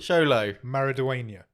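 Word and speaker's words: Xolo Maridueña: YOLO mariduena mariduena marida his name is sholo sholo maridia there you go I listen to his podcast so I know how to say it h he is Miguel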